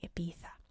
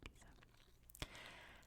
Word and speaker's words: Ibiza: It's much more fun to say Ibiza, and I'd much rather say that. But then I need to be consistent throughout the video with the pronunciations. So we're sticking with the English one, Ibiza.